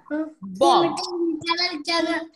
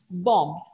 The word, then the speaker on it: bomb: Okay, the first word, bomb. B is silent. The last B sound is silent.